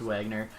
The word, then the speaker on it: Wagner: Wagner people were saying it's not like the German pronunciation it's just Wagner more their Emma do